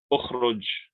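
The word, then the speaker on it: اخرج: How we would say that is ukhruj. Ukhruj. And we pronounce the Hamza Talwasso with a dhamma because the third letter, the ra, or let's say the middle letter, has a dhamma.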